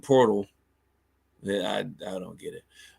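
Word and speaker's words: Poeltl: uh portal Jacob portal even though there's not a r in his name anywhere that that's I guess that's that's how you pronounce it portal I I don't get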